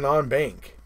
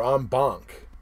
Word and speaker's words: en banc: what the hell is a non-bank you know or on bunk as they I've heard it pronounced both ways but anyway either way